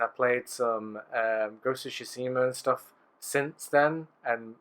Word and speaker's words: Tsushima: You pronounced Ghost of Tsushima properly.